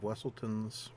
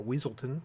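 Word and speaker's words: Weselton: I got 3 Duke of Wesseltons. I have, or Weaselton as it should be pronounced, 3 Flounders, and then our 2-drops we've got 4 Aurora Royal Princess, whose stats are fantastic for this.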